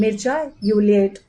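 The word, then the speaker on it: Mircea Eliade: तो उसी के रहते उनके घर में एक रोमानियन छात्र मिर्शा, यूक्लिड, इसका हिंदी में प्रोनाउंसिएशन ऐसे है, तो मिर्चा यूलियट वैसे इसका प्रोनाउंसिएशन है।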